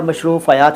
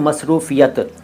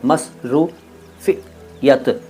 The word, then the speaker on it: मसरूफ़ियत: मशरूफ़ियत होता है या मशरूफ़यात होता है, कुछ नहीं होता गुड्डू साहब, इनमें होता है मसरूफ़ियत, मस श नहीं स, मसरूफ़ियत, मसरूफ़ियत, और इसका बहुवचन मसरूफ़ियात।